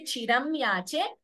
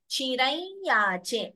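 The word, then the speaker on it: चिरं याचे: It's correct to also say chiram yache, but we combine the sandhi and chant it as chirai yache. That nasal tone should come, anunasika tone.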